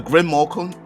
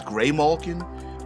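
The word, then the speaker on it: Grimalkin: The Grimmalkin. I've also heard it pronounced as Greymalkin, but the Grimmalkin here are feline fairies who shift between 3 different forms.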